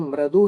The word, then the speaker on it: मृदु: संस्कृत में मृदु है, उसी का मराठी में क्या बन गया? मऊ बन गया। तो सही है, उसका उच्चारण क्या करोगे? मृदु। मृदु या मृदु नहीं, मृदु।